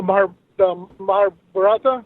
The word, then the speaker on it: Mahabharata: And I feel that a lot of people, they should study the Mahabharata.